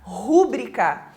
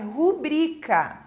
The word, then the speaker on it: rubrica: falam de forma incorreta rúbrica como se tivesse um acento agudo ali nesse U né então não é rúbrica a pronúncia correta da palavra é rubrica e também a palavra